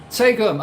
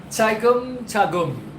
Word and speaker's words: Tagum: Tegum, okay, Tegum. I've not been to Tegum. How do you pronounce it? Well, you can't tell me how you pronounce it, but... Tagum.